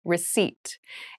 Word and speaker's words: receipt: meal room service meal receipt receipt receip receipt has a very interesting spelling there is a p in the spelling of this word but we do not pronounce it the pronunciation is receipt a receipt is a